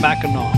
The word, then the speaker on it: Mackinac: the island name is pronounced as mackinaw because it's a french word so